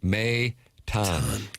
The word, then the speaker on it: Maton: Maton, pronounced M-A-Y. Doug, that's in caps to convey the pronunciation, and then the dash with T-A-H-N. Maton.